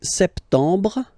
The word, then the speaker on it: septembre: So, septembre, septembre, septembre. Remember this E-M en septembre. You don't insist on the final E.